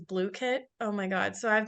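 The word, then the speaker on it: Blooket: also um completely free they also have it pronounced as blue kit oh my God so I've been pronouncing it book it like for the last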